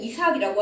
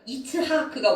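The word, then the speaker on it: יצחק: 사라가 이제 헛웃음에서 찐 웃음으로 바뀌었으니까 기뻐서 아들 이름을 웃음이라는 뜻 혹은 그가 웃었다라는 뜻의 히브리어 이츠하크 우리는 이삭이라고 합니다만 이츠하크가 원래 발음이에요.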